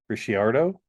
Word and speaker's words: Ricciardo: The fastest lap record was 118 by I don't know how to pronounce this guy's name. Ricciardo. Ricciardo. Ricciardo hit RICCIARDO back in 2018.